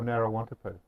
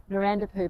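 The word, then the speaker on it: Narawntapu: Now, is it Narandapoo or Narrawantapoo? Well, it's spelt Narrawantapoo, but the locals corrected our pronunciation and said it's Narandapoo.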